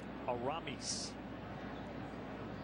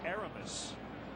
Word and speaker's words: Aramis: point out in his first name technically is pronounced Aramis the beard is so we will do our best to get it exactly right occasionally you hear a PA announcer say Erebus so I asked him so that's not how